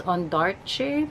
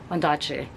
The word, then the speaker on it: Ondaatje: Someone said that the way you pronounce his last name is Ondaatje, but I've always said it's Ondaatje.